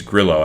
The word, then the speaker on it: Grillo: with griot that uh I think it's Grillo actually is nothing for they wanted pronounced but I've been calm griot forever but Grillo lost his